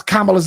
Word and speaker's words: Kamala: about you need to you need to pronounce kamala's name it's Kamala not Kamala it's Kamala it's Kamala